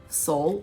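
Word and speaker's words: Sol: And then even this summer in 2021, they're doing something called Soul of the Circle, and soul is spelled S-O-L, like the sun, right?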